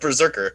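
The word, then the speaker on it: BRZRKR: yeah oh that's right it's spelled okay it's pronounced berserker but the spelling of it's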